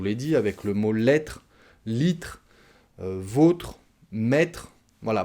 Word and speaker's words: lettre: Ça fonctionne, je vous l'ai dit, avec le mot lettre, litre, vôtre, maître. Voilà, beaucoup de mots qui se terminent par tre, T-R-E, et on mange la dernière syllabe, les deux dernières lettres, R-E.